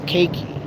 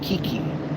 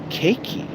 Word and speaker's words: Keiki: Cake that you eat and a key that you turn. Put it together. Keiki. There you go.